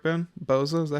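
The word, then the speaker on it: Bozza: by Boza I believe is that correct Ben Boza is that how you say his name yes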